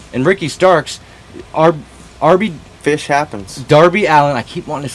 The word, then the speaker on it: Darby Allin: But anyways, RB Dallin. Darby Allin, folks. We know his name. I swear to God. This is a very interesting episode. We just can't seem to get names right. Darby Allin.